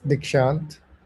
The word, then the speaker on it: Dixant: Dixant, is that correct pronunciation? Yeah, it's Dixant. Dixant.